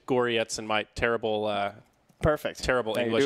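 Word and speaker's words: Gorec: It looks like Gorek, but in the Cyrillic, it's pronounced close to Goryetz in my terrible terrible English.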